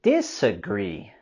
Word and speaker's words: disagree: With the word disagree, we're going to raise our voice and intonation on the last syllable.